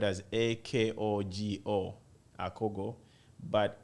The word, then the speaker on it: akogo: here in my country we call it the akogo it's spelled as a-k-o-g-o akogo but its origin is in the southern